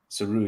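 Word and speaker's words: Tsuruya: Saruya.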